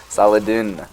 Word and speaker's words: Saladin: mean, we know from this AIV set files, Saladin is very strong. I think I've just been pronouncing that wrong this entire time. So that's unfortunate. Sorry if I'm making you cringe. Saladin.